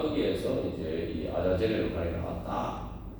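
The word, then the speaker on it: עזאזל: 중요한 또 의미들이 있어요 여기서 이제 아사셀 번역되는데 원래 저 그 원상의 발음을 아 아자젤 있니다 아자젤 아자젤 있데 이제 한글 성에 아이라고 이렇게 옮겼는데 원문 발음은 이제 아자젤 그이 아자이 도대체 무슨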